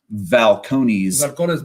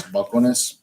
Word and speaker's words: Balcones: It's Balcones. Balcones. The Spaniards can. You're not a very good Mexican if you're pronouncing your B's as a B.